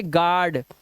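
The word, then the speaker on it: guard: गिटार इसी तरह से यू के बाद ए है तो अब यहां पर यू का कोई रोल ही नहीं इसे पढ़ेंगे गार्ड तो देखो यू लगाओ फिर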